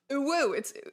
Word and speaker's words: UwU: lot of people, so they started pronouncing it as a word. We're so accustomed to hearing it out loud now, like we're so accustomed to saying it. UwU, UwU is a word